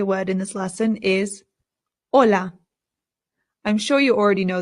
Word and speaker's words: hola: It's important to note that the H in Spanish is always silent. No exceptions. So, we don't say hola. It's just hola.